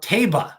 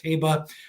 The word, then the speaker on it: Taba: wants to talk about taba and i've heard that's how it's pronounced i was calling it taiba but we're going to go with taba he likes him a